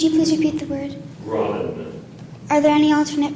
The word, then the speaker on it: graben: Graben. Graben. Would you please repeat the word? Graben. Are there any alternate pronunciations?